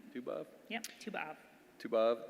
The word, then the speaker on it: Tu B'Av: Tu B'Av?